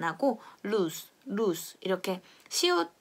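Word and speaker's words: luz: 그런데 단어의 끝에 왔다 그러면은 발음이 약해지면서 시옷과 같은 소리가 난다. 여기다가 써볼게요. LUG 이렇게 Z 이렇게 쓰면요. 빛이라는 뜻이에요. 전등이라든지 불, 이런 불빛 이런 뜻인데 이것은 lose 이렇게 발음을 합니다.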